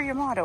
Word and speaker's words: Yamato: Yeah, silver Yamato. I said it right and I was questioning myself.